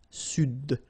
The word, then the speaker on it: Sud: Here you should pronounce the D. Sud.